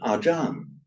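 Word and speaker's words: อาจารย์: that becomes ajar, and whenever r or a l sound comes at the end of a word in Thai, it becomes an n. So that's why you have our word ajan. So the word ajan is just the Thai way of saying acharya, meaning teacher.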